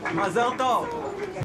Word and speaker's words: mazel tov: So they're doing the Israeli Hebrew pronunciation here.